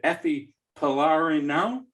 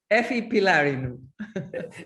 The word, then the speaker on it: Efi Pylarinou: And here I am with Efi Pylarinou. Did I get that right? I don't think so. 98%. Okay. Well, you pronounce it so everybody knows. Efi Pylarinou.